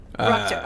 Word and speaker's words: Ruchter: Is it Ruchter or Richter? How are we pronouncing this? It is Ruchter. Ruchter.